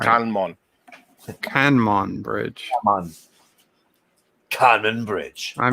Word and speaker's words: Kanmon: We're going to go see Canman Bridge, I think. Canman Bridge? I wonder if I'm pronouncing it It's right. Kanmon.